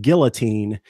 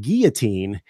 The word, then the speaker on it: guillotine: I know that's really grim but it's actually pronounced guillotine but most of us pronounce it guillotine and every time I pronounce it correctly someone's like don't you mean guillotine and then I just have to go on